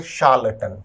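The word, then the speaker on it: charlatan: और option C एक बहुत अच्छा शब्द है, शब्द का उच्चारण है शार्लटन।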